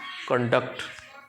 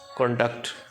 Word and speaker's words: conduct: On the first syllable conduct for the word conduct used as a verb. Where is the primary stress placed? On the second syllable conduct.